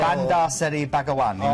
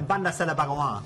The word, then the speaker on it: Bandar Seri Begawan: Bandar Seri Begawan in Brunei. Bandar Seri Begawan, as they say in the local twang.